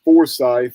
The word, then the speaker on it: Forsyth: from Cumming, Georgia, North Forsyth. Down there they pronounce it Forsyth instead of Forsyth, like in North Carolina.